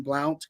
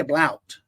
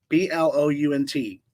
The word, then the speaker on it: Blount: I can't say Blout. B L O U N T. Is that how you say it? Sounds like Blount. Blout. They probably say Blount, Blount County in Tennessee.